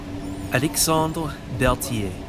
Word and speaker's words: Alexandre Berthier: But anyway, since you did manage to get a hold of me, you pronounced it as such. Alexandre Berthier.